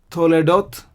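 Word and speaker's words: תולדות: If you take this word toledot, so we have to, le, dot. To, le, dot. So 3 syllables again in toledot.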